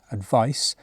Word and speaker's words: advice: have different pronunciation advice with a c is pronounced with a sound advice this is a noun an advise with a